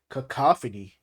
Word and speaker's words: cacophony: Cacophony. Cacophony. So you say like caca.